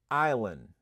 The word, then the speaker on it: island: But here we're going to learn how do you pronounce this word. You said island.